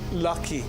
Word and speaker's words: lucky: Your O sounded like an A. You opened your mouth too wide. You pronounced it as<i> lacky.</i> It should be "lucky."